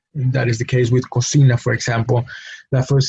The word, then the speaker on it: cocina: in education and it's an example of a word that has the letter C twice and there it produces the two different sounds that the letter C has no cocina the initial syllable code has the letter C producing the K sound the second syllable C has the letter C produce the S sound no so that's that's